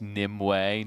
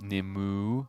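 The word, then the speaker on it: Nymue: with the good guys actually it's Nim way not nimu no it's nimu no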